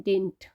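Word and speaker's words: didn't: American English में इसे pronounce करते हैं डिंट।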